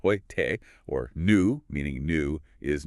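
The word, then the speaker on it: heute: Hoyt, meaning today, pronounced hoyte, or new, meaning new, is noi.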